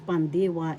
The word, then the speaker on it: pandiwa: now the verb is pandiwa in tagalog pandiwa first syllable pan second syllable d third syllable wa The accent is in the second syllable pandiwa.